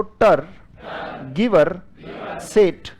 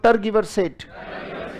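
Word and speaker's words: tergiversate: अगला वर्ड है बेटा, बोलो टर गिवर सेट। बड़ा कीमती शब्द है और स्पेलिंग को याद करना। बोलो टर गिवर सेट। टर कैसे पढ़ोगे? गिवर कैसे पढ़ोगे? सेट कैसे पढ़ोगे?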